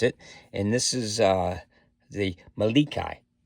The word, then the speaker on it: Melik: And this is the Malikai. And Malikai, I checked the pronunciation on that too, and that means king.